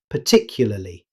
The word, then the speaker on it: particularly: In fast, natural speech, native speakers often shorten it to particularly. Notice how the middle -ya sound disappears.